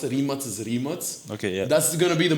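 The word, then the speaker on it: Rimac: a lot of audience like Americans actually uh pronounce the car manufacturer as is not necessarily remac it's Rems and it's based off of the owner's uh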